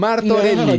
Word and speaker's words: Martorelli: Marcelo Martorelli, que lo pronuncio mal, soy italiano y lo pronuncio mal, no tengo perdón de Dios. No, Martorelli. todo bien, todo bien, todo Un bien, gusto, normal.